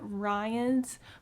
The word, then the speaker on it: Rhion: chapters is held at Rhion's house and I believe that's how you say his name. It's r h i o n, so we're going to call him Rhion.